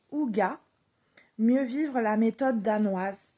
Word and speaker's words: hygge: Donc le livre du hig en fait ça se prononce ouga mieux vivre la méthode danoise.